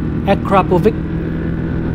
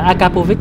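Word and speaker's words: Akrapovič: Đọc đúng phải là Akrapovic, chứ không phải là Akapovic.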